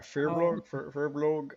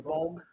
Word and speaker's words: Furbolg: Furblog. I can't pronounce the name ever. Furbolg. Yeah, that. Then Fur, and then Bolg.